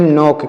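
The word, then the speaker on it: knock: मिलेगी आगे बढ़ते हैं अगला शब्द है के एन ओ सी के तो इसे क्या पढ़ेंगे इसे पढ़ेंगे नौक के एन ओ सी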